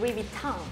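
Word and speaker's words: Louis Vuitton: 근데 그거야, 루이비통을 사람들이 루이비통이라고 하잖아. 루이비통 이랬는데 원래 발음은 루이비탕. 아, 이렇게 불려줘야 되거든.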